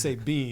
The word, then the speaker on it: Sabian: Sabian spelled Sabian. But pronounced Sabine, yeah, of course.